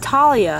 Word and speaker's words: Thalia: Her name is Thalia from Percy Jackson. I went to see Sea of Monsters and apparently it's pronounced Talia.